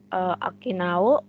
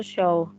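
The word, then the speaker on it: 商: Untuk kunyominya dibaca akinao, cara baca onyominya itu show.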